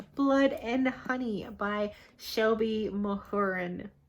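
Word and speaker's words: Mahurin: and honey by shelby mohoren said hey you pronounce her last name my urine my hearing but i have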